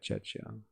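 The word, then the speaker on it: Czechia: Chetchia. Okay, Chetcha.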